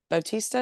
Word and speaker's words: Bautista: a knock at the cabin you know Dave Bautista is how you say his name you know